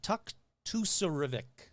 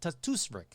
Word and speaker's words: Tuktoyaktuk: The Freeman's Cove area of Tuktoyaktuk. Yeah, that's it. Tuktoyaktuk.